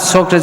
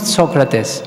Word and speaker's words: Socrates: He loved Socrates so much. One time in an interview he said, the right pronunciation of his name is not Socrates, it's Socrates. This is really the Greek pronunciation.